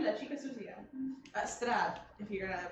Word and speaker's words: Strahd: Strahd, if you're gonna pronounce it correctly.